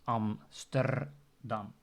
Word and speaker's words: Amsterdam: Also, if you say the capital of the Netherlands, Amsterdam, then the R in there can be pronounced as the R, and not per se Amsterdam, which is also common, but more complicated if you're not used to this sound.